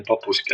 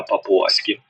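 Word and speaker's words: папуаські: По-перше, не папуськи, а папуаськи.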